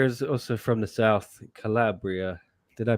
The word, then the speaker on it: Calabria: Nicola here is also from the south, Calabria. Did I pronounce that right? Calabria. That's it. Calabria.